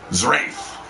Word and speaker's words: Zerath: he is adrian live zerath is pronounced like wraith with a z but i was pretty